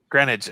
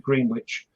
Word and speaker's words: Greenwich: it greenwich granite okay i know it's spelt green green witch and i know some of you guys pronounce it green witch but no you've never heard well you do some of you do on the end but you pronounce it like there's only one e so it's green granite greenwich sounds like a